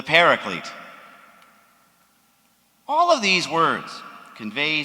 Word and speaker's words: Paraclete: was called the parakletos which we commonly pronounce today as the paraclete all of these words